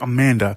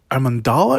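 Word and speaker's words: Amandla: i'm always mispronouncing because i always want to say amanda but it's not amanda it's uh a mandala because she has an l right after the d uh steinberg uh she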